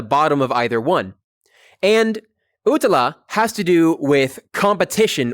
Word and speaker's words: utala: Next, we have utala, U-T-A-L-A. Utala is drawn with a pair of crossed swords. You can see the sort of handle part at the bottom of either one. And utala has to do with competition or battle.